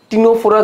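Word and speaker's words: Ctenophora: আর দ্বিঅরীয় প্রতিসমের নামগুলোর মধ্যে সি আছে, টিনোফোরা যাচ্ছে টিনোফোরা নামের মধ্যেও কিন্তু সি আছে, ঠিক আছে? এই সামনে একটা সাইলেন্ট একটা সি থাকে, ঠিক আছে? সামনে কি থাকে? একটা সামনে একটা সাইলেন্ট সি থাকে, ঠিক আছে?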